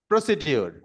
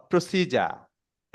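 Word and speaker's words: procedure: এর উচ্চারণ হচ্ছে প্রসিজার। এর উচ্চারণ প্রসিজার। এটার একমাত্র উচ্চারণ প্রসিজার। এটা প্রসিডিউর কোনো উচ্চারণ না।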